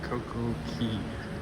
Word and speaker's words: Coco Cay: so we can get a better view of Coco Key or Coco K, however you want to pronounce it.